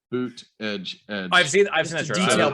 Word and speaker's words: Buttigieg: Daniel, I literally have a shirt that says boot edge edge.